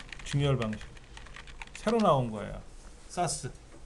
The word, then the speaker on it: SAS: 사스. 스카시라고 읽고요. 이건 사스라고 읽어드리는데 이런 하드를 달면은 어마어마하게 빠르죠.